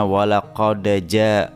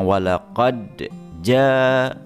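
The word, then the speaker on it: وَلَقَدْ جَاءَ: Yang jelas adalah mungkin qalqala sughranya lepas kayaknya, seperti terbacanya walaqadaja, harusnya walaqadja gitu ya, walaqadja. Jadi seperti jelas dalnya qalqalah sughranya hilang menjadi berharakat fathah.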